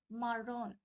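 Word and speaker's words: marrón: we have মারন মারন basically Spanish sentence শুনে থাকলে আপনারা খেয়াল করবেন ওরা হচ্ছে ডবলার জিনিসটাকে রোলারের মত উচ্চারণ করে সো it will be মারন এন্ড ও এর এখানে একটা এক্সেন্ট আছে সো এটা হবে হচ্ছে মারন সো নেক্সট উই হ্যাভ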